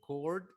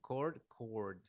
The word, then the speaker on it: chord: Chord, it has an H. Este tiene una H. En cambio, el otro no tiene, but they have similar pronunciation. Chord, chord. Right?